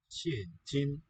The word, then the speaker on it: 现金: is 英文菜单单现金，现金. As it happens, numbers 1 and 2 have the same tone pattern. Listen for that. It's falling tone on the first syllable and then high level on the second.